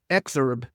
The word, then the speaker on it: exurb: I'm not going to say the word suburb, it's exurb.